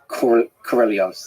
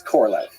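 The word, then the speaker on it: Королёв: how to pronounce Sergei Korolyov's name. And I'm still going to say it wrong no matter what. My understanding, and from listening to native speakers, is closer to Korolyov than it is Korolev.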